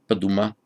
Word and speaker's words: Paduma: Pali doesn't quite like the D and the M together, so it makes it a three-syllable word, Paduma.